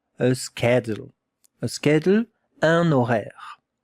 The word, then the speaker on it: horaire: A schedule, un horaire. Pay attention, it begins with an H that we don't hear. We don't listen to the H.